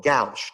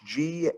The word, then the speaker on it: gauche: This one we call gauche, G-A-U-C-H-E, or I've also heard it pronounced gauche. I don't really care which pronunciation you use.